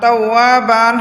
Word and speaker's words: توابا: ইন্নাহু কানা তাওয়াবান তাওয়াবান তাওয়াবান হয়তো অক্ফ করার কারণে দুই জবরের উচ্চারণ এক জবর হয়ে যাবে তাওয়াবা তাওয়াবা ওয়ার মধ্যে এক আলিফ টান হবে জবরের বাম পাশে খালি আলিফ মদের হরফ আছে তাওয়াবা ইন্নাহু কানা তাওয়াবা